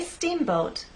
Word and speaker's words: steamboat: So when we say steamboat, I want the first part to be loud and the second part to be softer. Let's try that.